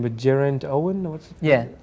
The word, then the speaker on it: Geraint: I don't know how to pronounce his name, but Geraint Owen? Yeah, Geraint.